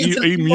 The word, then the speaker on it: emu: say it phonetically, it would be E, then a dash, then a M-E-W. E-mu.